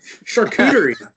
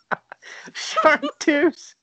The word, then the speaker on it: Chartreuse: I just want Jason to pronounce this. Charcuterie. Not even Charcuterie. Chartreuse.